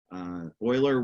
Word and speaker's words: Euler: this word it looks like Euler but it's pronounced Euler it's German oiler was one of the greatest mathematicians of I